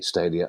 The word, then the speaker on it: Stadia: There are 2 stories, Kieran, we have now about Stadia, to say it correctly, Stadia.